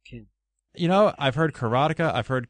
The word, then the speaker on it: Karateka: II users, that being Jordan Mechner, creator of Karateka and Prince of Persia, the classic video game franchises that launched on the Apple II back in the 80s. That would be Karateka, Ken. You know, I've heard Karateka, I've heard Karateka, and just recently Wade Clark